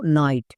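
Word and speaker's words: night: যেমন এক্সাম্পল দেখো নাইট, এখানে শব্দের শেষে ওয়ার্ড প্যাটার্ন আছে IGHT, এর জন্য আইট হবে।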